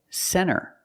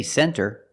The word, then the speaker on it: center: When you see NT, a lot of times you don't hear the T. Example, center. Of course, you can say center, it's correct, but a lot of Americans will pronounce it center.